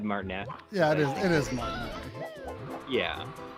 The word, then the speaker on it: Martinet: Aaron Welsh says that your woohoo is now more iconic than Charles Martinet's woohoo.